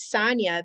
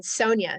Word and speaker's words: Sonia: different person and my my name growing up is Sonya but at that point I decided I wanted to go by the pronunciation Sonia so it went from